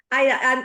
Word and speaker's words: Aïda: do not see the difference between the two pronunciation you Is saw. Aida or Aida? The second one. The second one, Aida. The Okay, first cool. one, it's like more Spanish. Yeah, that's true. Okay, so Aida, you are like we are getting in contact